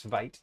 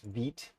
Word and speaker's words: Vite: also runs on veet which by the way apologized for pronouncing this as vite for so long it is veet um svelt is pretty nice and veet has been pretty great